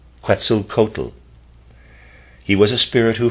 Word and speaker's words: Quetzalcoatl: mephistopheles displayed much more of a soul nature pretzel coated was never also excuse me quetzalcoatl also never appeared directly incarnated now quetzalcoatl is spelled q-u-e-t z-a-l-c-o-a-t-l quetzalcoatl his symbol was similar to the mercury